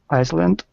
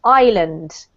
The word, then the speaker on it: island: This word in English is pronounced without an S, so it's a silent S. It's pronounced island.